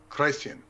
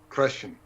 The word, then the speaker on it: Crăciun: It was, I hope I pronounced that right, Crăciun, C-R-A with an umlaut over it, C-I-U-N, and was originally identified with time, the solstice as the beginning of time, and Santa Claus, known as Moș Crăciun, was the god of time. Crăciun sounds phonetically like creation and cranium.